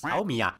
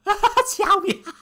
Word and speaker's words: Xiaomi: It's Xiaomi. Xiaomi. Why I got the right to laugh at other people's pronunciation?